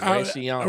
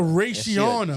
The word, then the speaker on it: Rayciana: I guarantee you, with the way her name is spelled, she's one of us. You gotta say it that right way. You missed the I. It's Rayciana. Rayciana.